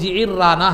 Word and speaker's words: جعرانہ: ہے آج، مسجد جعرانہ مختلف اس کا تلفظ ہے، لیکن صحیح تلفظ جعرانہ ہے، جو ہے نا عین کے زیر کے ساتھ اور را کی تشدید کے ساتھ۔ تو وہ وہاں مال